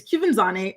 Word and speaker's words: Quvenzhané: She was the youngest nominee, and for some reason, Chrissy, reporters were having a difficult time pronouncing her name for whatever reason. It's Quvenzhané.